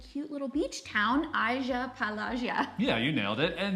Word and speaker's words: Agia Pelagia: Agia Pelagia.